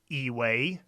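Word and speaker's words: 以为: And in this character, 以为, it's always a second tone as well.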